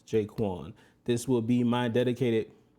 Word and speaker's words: J'Qwan: Be sure to subscribe to this channel, pronounced jay-kwon.